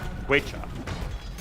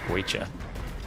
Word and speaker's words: Guecha: Well, it's in the language of the Muisca. Guecha. Guecha? Okay. All right. Learning. That's pronounceable, Guecha.